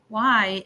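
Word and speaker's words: Huai: Every time when I say my last name, why?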